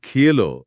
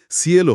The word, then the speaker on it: cielo: কিংবা ধরুন সি এলো মানে আকাশ। এখানে সি এর পরে আই থাকার কারণে উচ্চারণটা খিলো না হয়ে সিএলও হচ্ছে।